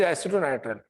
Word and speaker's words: एसीटोनाइट्राइल: Aceto का spelling ACETO है, नॉट ACITU, इट इज एसीटोनाइट्राइल।